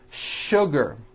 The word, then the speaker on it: sugar: not know is that there are some words in English that are written with the letter s but are pronounced with the sh sound words like sugar and sh sure and to make things even